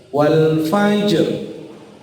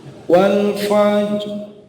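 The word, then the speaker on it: والفجر: Yang pertama, ro-nya dibaca tebal, artinya jelas, wal fajr, ya, atau bisa juga dibaca agak tipis, wal fajr walayalin ash, seperti itu. Jadi bisa agak tebal, bisa agak tipis.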